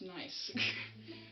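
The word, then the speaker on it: gneiss: i believe it's pronounced nice but it's not spelled how you'd think it's spelled it's spoke it's spelled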